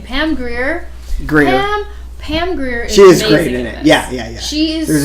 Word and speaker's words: Grier: I was trying to figure out how to pronounce her last name. Pam Grier. Greer.